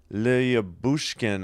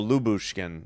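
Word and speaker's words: Lyubushkin: Leouchkin on the shot. Lub. No, Lubushkin. Yeah, that's right. You ignore the Y. Lubkin.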